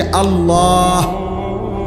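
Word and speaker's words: الله: শেষে আল্লাহ। শেষে একটা গোল হা আছে ছোট হা। আল্লাহ মানে আল্লাহু তো হুটারে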